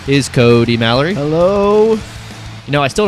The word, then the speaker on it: Kody Mallory: Just say Kody Mallory. That's it. That's One syllable, two syllables. Basic English. Kody Mallory.